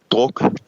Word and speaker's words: Druk: It's called Another Round, or how do you pronounce this in Danish? Is it Druk? Druk.